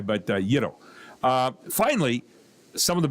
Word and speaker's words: gyro: Uh which sounds like hero with a Y, but Yiddo.